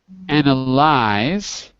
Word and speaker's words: analyze: color to it because look analyze the color from our chart is white because White Lies analysist anal an analyst color is pink had pink pigs and we had white lions so I'm giving you the sound of the Y in both cases because that's the one that you have to remember okay thank you thank